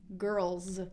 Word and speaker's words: girls: difficult word for you girls with a Z girls the list could